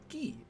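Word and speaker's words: ぎ: now i already have this is the ghee you pronounce it as ghee as in like a karate key write key as normal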